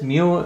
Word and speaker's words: mu: be right here x is equal to this mu this mu or mu as it's pronounced is a Greek letter alphabet which represents